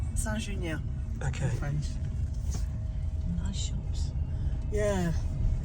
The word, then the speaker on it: Saint-Junien: It's called Saint-Junien. How's it pronounced? Saint-Junien.